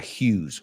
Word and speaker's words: Hughes: John Hughes, ese apellido se pronuncia Hughes. Hughes, no?